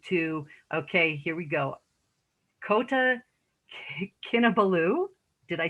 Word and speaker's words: Kota Kinabalu: After graduation, she moved to, okay, here we go, Kota Kinabalu.